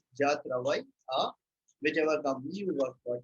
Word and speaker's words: travail: Okay, travail means work. So W and E are not spoken here. We pronounce it as travail. That's okay. We are silent.